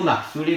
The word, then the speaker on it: Marc Solé: On est dans un groupe de 13 avec Alexei Lutsenko, Marc Solé, parce que du coup, c'est en catalan, ça se prononce comme ça.